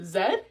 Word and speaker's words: Z: They pronounce the letter Z, Z.